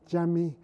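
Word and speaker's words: cami: Dome of the sheriffley Jammy Jammy of course is the word for and we have mustn't be confused by the fact that it begins with a c which is pronounced as a j and here is the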